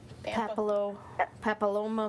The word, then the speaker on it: papillomavirus: Papilloma Papilloma.